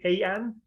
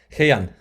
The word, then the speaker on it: Hei'An: Hei'An? HeiAn.